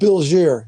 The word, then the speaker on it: Bilgere: Bilgier. He's one of Mary Oliver's, another one. Bilgier is spelled Bilgere.